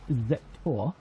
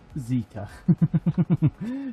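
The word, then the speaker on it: Zetor: But yeah, we'll take our I think it's Zector over there, and we will get this field done. I think the pronunciation is Zeta. That's what I was trying to think of, not Zector.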